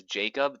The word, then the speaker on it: Jacob: And for English speakers, yes, it is Jacob, that is the name, but in a lot of Slavic or sort of Eastern European / Germanic languages, the J is pronounced as a Y.